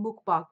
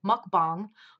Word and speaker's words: mukbang: million people tell you you're saying Mook Bock wrong mukbang she's not even try